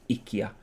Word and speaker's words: IKEA: or anything like that ikea or ikea the chronic correct pronunciation i think ikia oh my days my